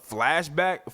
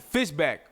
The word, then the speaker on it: Fishback: right there it is uh uh Dominique uh flashback Fishback that's how you say her name uh pretty